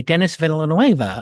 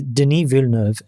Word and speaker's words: Denis Villeneuve: It's the sequel by Dennis Villanueva of. It was my alternate background. First of all, his name is Denis Villeneuve, and if you're going to pronounce a Canadian's name, get it right.